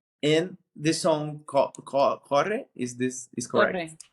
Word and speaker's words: Corre: Um, and the song Corre, is correct? Corre. How Hmm. my pronunciation?